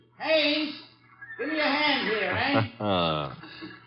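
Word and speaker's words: Haines: I what did you say his name is Hanes h a i n e s oh oh haes yeah do you know him that is a fellow name Hines used to fish out no no no not Hines hannes couldn't be Huntingburg no it couldn't the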